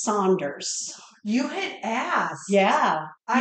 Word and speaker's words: Saunders: They're from Detroit, and they do not pronounce it Sanders Bakery. It's Saunders.